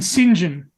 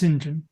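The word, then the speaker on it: St John: pronounced uh uh and Sinjin the name Sinjin uh might at first um first uh glance look like Saint John um s t j o n but it's actually pronounced Sinjin and we say we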